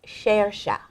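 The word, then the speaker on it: Saoirse: But I cannot pronounce her first name. Her first name. Her first name is Shersha.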